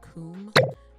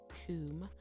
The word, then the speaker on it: Kum: There's this German brand, for what I know, they just make pencil sharpeners, but it's called Coom, and it's spelled K-U-M. Coom.